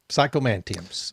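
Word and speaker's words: psychomanteums: Psychomantiums.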